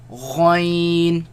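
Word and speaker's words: غ: Let's pronounce them. Kha, Ghain, Ghain, Again, the ya sound.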